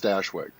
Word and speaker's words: Stashwick: rock steady but yeah it's pronounced stashwick yeah oh yeah it